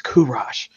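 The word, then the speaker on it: کوروش: With the real pronunciation, not the Americanized pronunciation. Yeah. Not Cyrus, it's Kurash.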